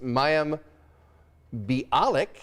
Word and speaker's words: Mayim Bialik: So that is Mayim Bialik.